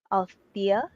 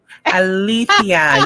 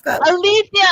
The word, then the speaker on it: Alethia: And this is Alia. Did I say it right? Althia. Yeah. Althia.